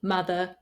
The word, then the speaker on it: mother: For example, the letter O in writing in English is very often pronounced as A, so it should be written with the letter U, but it's not. For example, words like come, done, some, money, honey, mother, brother, oven, these are all pronounced with the sound A, not the O that you see in the writing.